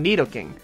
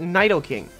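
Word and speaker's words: Nidoking: at this guy see I pronounce this Pokemon needle king however some people I hear call it Nidal king and the others Nyos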